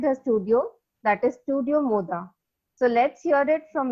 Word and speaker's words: Mod: So, tell us something about your studio Moda. Okay, Studio Moda. A lot of people have a little difficulty pronouncing my name, studio name, and it is actually Mod. Mod is a Sanskrit word for pleasure Okay.